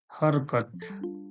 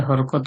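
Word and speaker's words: حركات: আজকে মূল ক্লাসের বিষয় হচ্ছে হরকত। বাংলায় হরকত বলা হয়, আর আরবিতে যাকে বলা হয় হারাকাত। এর সহি উচ্চারণ হলো কি হারাকাত।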